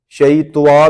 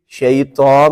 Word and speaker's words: شیطان: تو یہ تلفظ جو ہے یہ غلط ہے، عام طور پر یہ تلفظ غلط ہے، بلکہ ان کو بچوں کو سمجھایا جائے کہ واو کی آواز تو کہیں بھی نہیں ہے۔ اعوذ باللہ من الشیطان الرجیم، شیطان میں شیطوا نہیں ہے، یہاں پہ واو کی